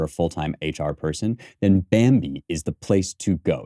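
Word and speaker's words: Bambee: business to hire a full-time hr person then bambi is the place to go it's spelled b-a-m-b-e-e and they're a fantastic service that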